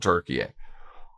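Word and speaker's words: Türkiye: And people have asked me, why am I pronouncing Turkey? Country changed its name. It's no longer called Turkey. It's now called Turkey.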